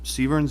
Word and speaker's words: Severance: at seven o'clock uh severins is how you say it yep come right up good evening good evening please state your name and address yep Severance 340 Stage Road um